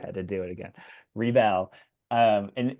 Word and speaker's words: Rebelle: Yeah, it's a REBELLE, like like Okay, a Belle and Beauty and the Beast, but if you right. had to do it again, Rebelle.